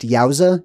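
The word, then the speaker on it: الجوزاء: It comes from the words Yad Al-Jawza. That is actually pronounced Yauza, just so you know. So that J is actually a capital I or a Y as you go further back in time. So it's literally the word Yauza, which is interesting too.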